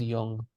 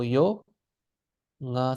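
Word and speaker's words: ཡོངས: So this is pronounced yong. Ya, naro yo, nga sa yong.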